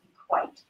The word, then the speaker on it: EQAT: Anyway, but it's pronounced, it's EQAT, but pronounced Equate.